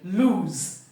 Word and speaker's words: lose: lose the vocal Cults must vibrate towards the end because the sound is l o z when you say Z you can feel the vibration of the vocal cords that is the difference in pronunciation this is loose and towards the end here the vocal codes vibrate lose but the middle we have the long ooh beautiful okay we've trashed